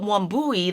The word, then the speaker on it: Wambui: Wambui, it's not so many syllables and so many words that sound differently. And it's just like it's spelled.